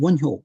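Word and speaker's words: 원효: thought in Korea is Wonyo. I don't know if I'm pronouncing that correctly. That's correct. Correct pronunciation. Wonhyo.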